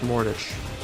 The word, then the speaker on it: mortgage: That's mortgage. It's a loan on your house, basically. Mortgage. Sorry. Ah! Mortgage. The T is silent.